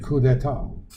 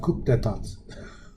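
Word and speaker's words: coup d'état: And we've seen the effects of those in places like Latin America, in coups, military coup d'etat, not coup d'etat, as some people would pronounce it.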